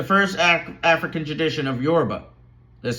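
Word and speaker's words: Yoruba: There's Yorba, Aiken, Congo, Dogen, the Egyptian gods, goddesses, etc.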